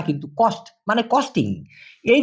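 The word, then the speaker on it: kos: খর্চা এটাকে মালয়েশিয়ান ভাষায় সাধারণত বলা হয় কস সি ও এস না হয়ে কে ও এস কারণ ওরা কে ক এর মত উচ্চারণ করে কস যেমন খাওয়া খরচ কস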